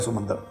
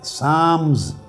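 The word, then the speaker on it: Psalms: इसमें एक बाब है साम्स। लिखने में पी एस ए एल एम एस लिखते हैं। मगर पी और एल दोनों साइलेंट होते हैं। साम यह मुनाजात का चैप्टर है तरात में।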